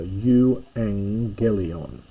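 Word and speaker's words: εὐαγγέλιον: Now, notice again the double gamma here. When you've got a gamma before a gamma or kappa or kai, this is pronounced as an n. So, u angelon, think of of evangelize and so on means the good news.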